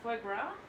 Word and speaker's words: foie gras: You mean foie gras? It's spelled F. It's like it's very weird because it's French. But I don't think there's actually any R's in it.